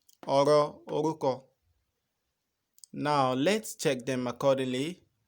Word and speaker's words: ọ̀rọ̀ orúkọ: Ọ̀rọ̀ orúkọ. Can you pronounce that with me? Ọ̀rọ̀ orúkọ. Ọ̀rọ̀ orúkọ.